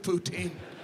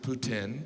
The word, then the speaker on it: poutine: restaurants that don't serve poutine poutine i know some of you pronounce it putin but you're still saying poo but you know poutine